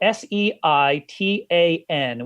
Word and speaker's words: seitan: called, it's spelled Seitan with a thingy over the A. So they call it seitan. They should just call it Satan, you know? That's kind of how it really sounds.